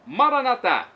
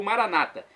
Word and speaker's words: Maranata: do aramaico Eu Clamo Maranata uma pronúncia de tônica na última sílaba como dizemos nosso católicos ou Maranata como dizem nossos irmãos separados os evangélicos ou protestante não importa pronúncia o